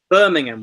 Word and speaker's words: Birmingham: sometimes crunch the syllables so for example Birmingham Birmingham we say in English the place name not Birmingham so the a at the end Birmingham just about disappears the sort of thing